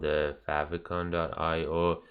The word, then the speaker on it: favicon: other website, it's called I might be saying it right, but I say favicon, so you can like have fav icon or favicon, and that's what we